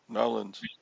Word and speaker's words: New Orleans: Is that how you say it? Narlands? Nolans. Nolans. I try to say it like Louisianans, but I'm not very good at Cajun talk, Cajun speak.